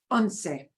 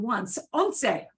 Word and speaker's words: once: look anything like one uh unsei right uh it is not the English word once we pronounce what we say okay but we take